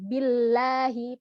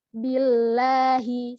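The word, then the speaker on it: بالله: ya itu maka Atuk Bunyi yang keluar itu menjadi tebal Billahi padahal harusnya tipis Billahi seperti itu audzubillahiminasyaitonirojim minasyaiton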